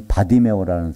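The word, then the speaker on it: 바디매오: 이 바디메오라는 사람, 이 디메오의 아들. 이 성경에서 바르가 붙으면요, 바르. 이건 누구의 아들이라는 뜻이에요. 그래서 디메오의 아들, 그래서 바디메오. 그 바르를 이제 발음을 안 해가지고 그냥 바디메오는데요.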